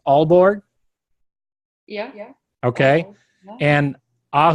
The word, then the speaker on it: Aalborg: these cities right but but Pia is this pronounced Aalborg yeah yeah okay and ah whose Oh see